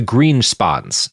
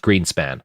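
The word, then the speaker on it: Grynszpan: in this are the Greenspons. uh g r y ns z p a ns but I think it's pronounced greenspan or something like that.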